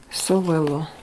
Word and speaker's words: Sowelo: Ça se prononce Sowelo, j'imagine. Alors, ici nous avons une interprétation très courte, concise. Sowelo, le conseil pour vous. Sowelo, c'est ça.